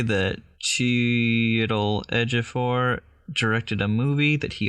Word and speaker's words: Chiwetel Ejiofor: I've got the whole, like, pronunciation of it. Chiwetel Ejiofor.